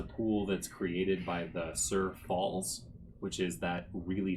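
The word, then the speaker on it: Tser: e r sorry pool Sur pool yeah TS e r is how I thought I would spell that um this is a uh this is a pool that's created by the Sur Falls which is that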